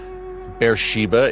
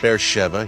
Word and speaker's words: Beersheba: Beersheba, it reads on the page, but it's pronounced Beersheba here in Israel.